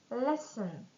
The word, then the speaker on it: listen: Fen listen please listen carefully to the proposal and silent L half would should we should review the contract.